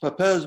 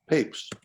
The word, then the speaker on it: Papez: first described by papes it looks like it would be pronounced papez but it's actually papes and these structures are